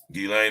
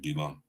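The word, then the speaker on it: Ghislaine: the lady Guillotine right gilain is a French name or should I say gilan that's how you really pronounce it gilan so you know a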